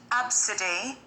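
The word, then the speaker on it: Abcde: one with you uh parents of this is pronounced absidy but it's spelled a b c d e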